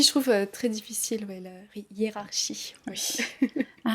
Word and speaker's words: hiérarchie: Mais, c’est qu’en anglais, on a le son ‘k’ dans ‘hiérarchie’ et en français, c’est le son ‘SH’.